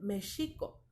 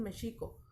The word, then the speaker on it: México: este indígena y entonces en su sonido suena como jota pero se escribe con equis porque es palabra de